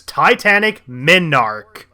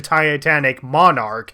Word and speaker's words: Titanic Monarch: number four point but how I pronounce it I pronounce it as Titanic menarche well Titanic menorca's and necess yeah I pronounce it as Titanic menarche not just through this point but through the entire countdown and even my let's play of the game I pronounce it as Titanic Minard as opposed to Titanic monarch and it's like the